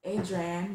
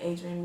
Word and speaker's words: Adrian: underscore underscore and really my name is pronounced Adrian but I say a dream because I'm just like